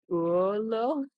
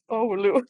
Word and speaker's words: Oulu: Olo? Oh, Oulu. Sorry, Olu. I cannot even pronounce it Okay. myself. Um, Oulu.